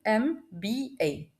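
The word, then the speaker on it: MBA: انت اما بتيجي تنطقها بتقول ام بي اي ام بي اي فانا ازاي وقفت على الحرف واتكيت عليه كاني دمجت حرفين يا اد اي مع الام كاني قلت ام وقفت على الحرف ايه باين في اول نطق كان في اي مخفيه وبالتالي بما اني نطقت فاول مخفي اذا بياخد اداه التعريف ان بالمثل كلمه اف بي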